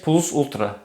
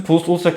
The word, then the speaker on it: PLVS VLTRA: Nec plus ultra. Ötesinde hiçbir şey yok demek. Bu sözün plus ultra kısmı halen daha İspanyol bayrağının ambleminde yer almakta. Ötesinde demek eski Latince ile yazılmış, V'ler U diye okunuyor.